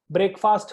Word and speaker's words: breakfast: Okay, it is not breakfast. Okay, breakfast khaya kya? No, it is breakfast. It is a two-syllable word.